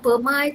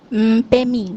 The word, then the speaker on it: Pemi: So, macam contoh untuk nama, saya pronounce nama Pemai itu betul tak? Pemi.